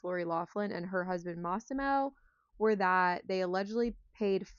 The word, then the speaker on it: Massimo: It is Massimo, though, because at one point I was reading an article and she referred to him as Moss, like as in the plant.